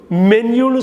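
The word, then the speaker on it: menu: பாருங்கள், மென்யூ, எம்இஎன்யூ, மென்யூன்னு சொல்லணும், மெனுன்னு சொல்லக்கூடாது. அணுன்னு சொல்கிற மாதிரி மெனுன்னு சொல்லக்கூடாது. மென்யூ, எம்இஎன்யூ வந்து மென்யூ.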